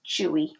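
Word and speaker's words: chui: describing it chewy leopard this one sounds the way it looks chewy just right for a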